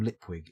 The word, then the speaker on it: Lipwig: I like anything with moist von lipwig in and/or lip League depending how you want to pronounce it and most of the